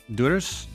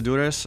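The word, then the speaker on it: Durrës: but I've been to I always mispronounce this durus duras duras I've been to duras I went there like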